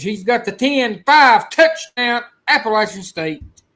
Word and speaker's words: Appalachian: It's Appalachian, not Appalachia. Appalachian.